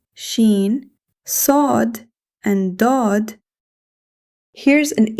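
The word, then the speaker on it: شين: This is sheen. The articulation of sheen is the middle of the tongue near the roof of the mouth. Air flows smoothly while pronouncing sheen. In English, similar to sh in ship.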